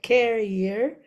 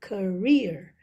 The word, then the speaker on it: career: So instead of putting the stress on the first syllable carrier, it's not correct, but you say career. So the stress would be in the second syllable because it makes a lot of difference.